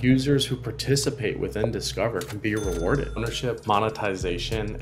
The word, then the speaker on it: DSCVR: cover which is spelled DCR VR um but pronounced discover so let's start with the story behind it